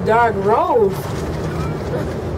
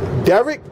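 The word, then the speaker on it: Derrick Rose: Chicago my man is dark Rose Derek you called him dark I said dark Rose you don't know how to say his name it's Derek you know hold on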